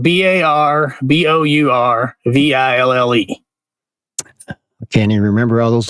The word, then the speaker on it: Barbourville: They say Barbourville. Barbourville? Barbourville. So they totally skip the middle syllable and to your point, they don't say ville. They say vull. Barbourville.